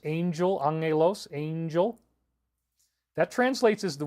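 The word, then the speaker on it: ἄγγελος: the new Testament it's Angelos you pronounce that Ang with the two G's so it's Angel Angelos angel that translates as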